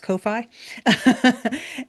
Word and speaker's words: Ko-fi: But we also have our coffee, which we all lovingly sometimes pronounce Ko-fi, where that's where we post all of our articles.